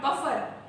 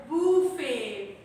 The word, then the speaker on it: buffet: spelling of buffet, but actually T is a silent letter, right? T is a silent letter and we used to pronounce this as buffet. It is not called buffet. It is not called buffer, right?